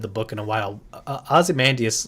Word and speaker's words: Ozymandias: Ozymandias. Ozymandias?